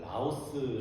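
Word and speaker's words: λαός: 쓰입니다 백성을 헬라어로 마태복음에서는 라오스 아고 발음되는 이렇게 헬라 강도 쓰였는데이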